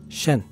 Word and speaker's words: 神: 物語だけでなく神と書いてシェンと読む魂の教えが